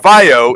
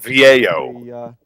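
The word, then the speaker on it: VAIO: I had one of those Sony VAO computers and it is not it is it is not pronounced Vio. It is pronounced VO.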